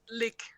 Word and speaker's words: lich: about the pronunciation of Lich okay and apparently like it should actually be pronounced lick in English lick yeah I guess